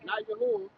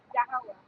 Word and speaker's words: Yahweh: Yahawah. Not Yahweh. Yahawah.